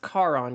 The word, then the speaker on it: Charon: It's pronounced Charon because it's based off of the Greek, what is it?